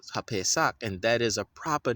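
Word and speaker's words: הפסח: right to left, right on the right side, HaPesach, is not Easter. It's pronounced HaPesach, and that is a proper noun.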